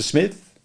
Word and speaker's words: Psmith: Smith. The P is silent, as in shrimp, he reminded her.